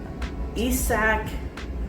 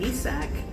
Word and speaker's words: Isaac: recently got traded so now we have um isach paradus isach paradus uh that's how he pronounces his name uh it's spelled Isaac Isaac